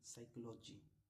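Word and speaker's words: psychology: अगर एस से पहले पी आए तो एस से पहले पी आए तो पी साइलेंट होता है। यहां पर एस से ये एस है। इसके पहले क्या है? पी साइकोलॉजी पी एच व से शुरू होता है।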